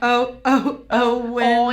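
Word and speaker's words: Eoin: I'm gonna say Owen O'Reilly. It's spelled E-O-I-N. Owen Riley.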